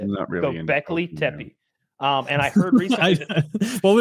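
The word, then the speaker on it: Göbekli Tepe: There's that site in Turkey whose name is very difficult to pronounce. I think it's Go Go Go Göbeklitepe. Göbeklitepe. That's it. Göbeklitepe.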